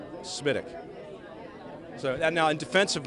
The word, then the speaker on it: SMWDC: How, sir, should people refer to your command? SMITIC.